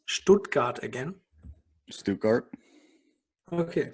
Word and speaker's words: Stuttgart: to the second you hunter stop can you pronounce stuttgart again stu cart okay sounds very good excuse me yes yes